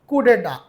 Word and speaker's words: coup d'état: The next word is coup deta. It is written as it is coup and dat but its right pronunciation is coup deta and for short it is used coup very